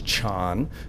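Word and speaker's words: 禅: is Diana the Chinese pronunciation of that is Chan the Korean pronunciation of that is sun and the Japanese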